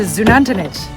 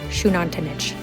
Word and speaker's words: Xunantunich: We're gonna go to Xunantunich. I later found out it's pronounced Xunantunich.